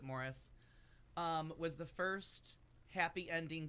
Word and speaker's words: Maurice: made the wonderful movie Morris which reads like Maurice but you pronounce it Morris was the first happy